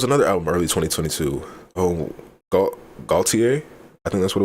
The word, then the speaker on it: Gaultier: I think it's pronounced Gaultier, not Gaultier, because it's like Cartier.